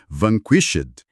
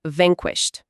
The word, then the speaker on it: vanquished: Esse final com ed me quebra, fica vanquished. Não, o ed aí soa como um T seco, porque o som antes dele, o chã, não vibra as cordas vocais, fica vanquest.